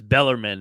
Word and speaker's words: Bellarmine: institution correctly but uh balarman is uh in Kentucky but any chance they could pull off the upset it's uh I I get the pronunciation it's Bellarmine it's because we played